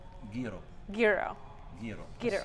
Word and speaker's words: gyro: Gyro. Gyro. Gyro. Gyro. Say euro. Euro. That's Yes. so. I'm from Nashville. Everybody says euro. A lot of Gyro, them, they say gyro.